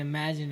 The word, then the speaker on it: Emajyn: And Imagine is spelled EMAJYN, but since he started doing more photography, he had to use his real name.